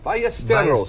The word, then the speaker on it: Ballesteros: Sevi Ballesteros, pronounce again. it. Double L. Ballesteros. You got to roll that R, Dave. Very good. There you go. And he was a big name again today. Sevi Ballesteros of Spain loves to